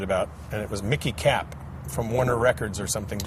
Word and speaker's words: Kapp: Did I say Mickey Kapp, or it's Mickey Katz? I forget. It's Kapp. C-A-K-A-P-P. Okay, Kapp. Okay.